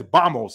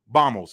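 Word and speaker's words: vamos: playing tennis he says bamos he doesn't say Vos bamos it's spelled v m oos but it's pronounced with a B so Baka now let's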